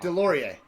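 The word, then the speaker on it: Deslauriers: I don't know how to pronounce his last name. No, it's okay. Is it Nicholas Desjardins? Deslauri. Oh, Nick Delorier.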